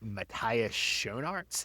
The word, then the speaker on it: Matthias Schoenaerts: the guy who plays Krem is a Belgian actor named, I think, Matthias Schoenaerts is how you say his name.